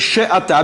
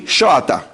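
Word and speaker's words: שָׁאַתָּה: So most people will read it she'ata, because in Hebrew, the way we speak, that's how we're supposed to pronounce it. She'ata, I'm thanking you that you are she'ata. Zanu mefarnos talmud tamid in Birkas Hamazon as well. Moedim, wherever you see this word she'ata, it's really sho'ata. It's based on the Radak's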